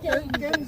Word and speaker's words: Thames: हम सारे कहते हैं ये देखें जी, टेम्स है। असल में ये टेम्स है। टेम्स है, रिवर टेम्स। ये एच और पता नहीं क्या क्या साइन है।